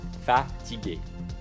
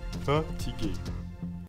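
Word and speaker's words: fatiguée: So it's the same word, and it's pronounced exactly the same. At the end, there's an extra E. That's it. That's the difference. Fatigué. Fatigué. Fatigué.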